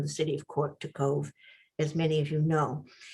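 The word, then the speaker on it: Cobh: you'll see cove c-o-b-h it's pronounced cove and irish and cork city is probably just exactly where the orange dot to the left of cove is and cove is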